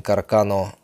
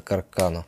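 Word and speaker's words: Carcano: вину орудием убийства Кеннеди считается карабин каркано M9 m9138 калибра 65 мм нередко не совсем правильно называется каркана он был обнаружен полицейским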